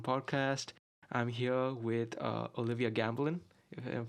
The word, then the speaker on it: Gambelin: I'm here with Olivia Gambelin, if I'm pronouncing correctly.